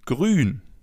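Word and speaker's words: grün: As you already know, the oo with the two dots on top is pronounced as in grun.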